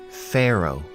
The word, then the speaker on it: pharaoh: our top 10 list again we have the pH which gives us the F sound and at the end we have a silent h pharaoh definition of pharaoh is